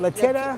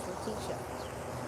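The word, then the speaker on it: Letitia: He always called her Latia Latitia. Latitia James. But he's wearing the fedora. Why don't they correct him though and say it's Laticia?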